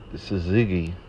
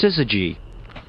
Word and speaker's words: syzygy: Look up the Sazigi.